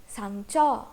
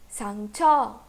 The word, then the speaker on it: 상처: And the last one is the Korean word for wound, and that is 상처. 상처.